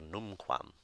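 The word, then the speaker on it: numquam: got the word here noon qualm which means never and you see that it's no qualm the first syllable being accented the second rule is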